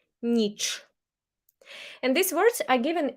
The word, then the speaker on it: ніч: pronunciation, день, вечір, вечір, and Ukrainian ch is hard, ніч, ніч, not ch, but ch, ніч.